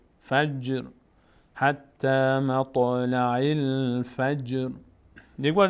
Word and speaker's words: فجر: مط لا عل فج. جیم هم از اون حروفی است که مقداری در هنگام تلفظ میلرزه، هم تا هم جیم. فج نمیگیم فج فجر.